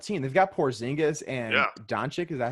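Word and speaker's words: Dončić: They've got Porzingis and Doncic. Is that how you say his name? Yep, Doncic.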